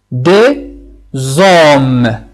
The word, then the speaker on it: des hommes: Des hommes. Voici la forme de la prononciation. On prononce D, E, Z, O et M.